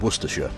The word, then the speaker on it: Worcestershire: between three counties those being Warwickshire Staffordshire and Worcestershire and yes for any Americans watching that is how you pronounce those place names anyways this three-way split